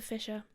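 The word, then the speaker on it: fissure: to spell it because otherwise it sounds like fish like fish swimming fish it's not fish fisher fisher um anyway so bleeding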